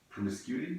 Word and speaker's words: promiscuity: So like promiscuity, is that Okay, the right not the word? bad. Yeah, it is the right word, not the right pronunciation.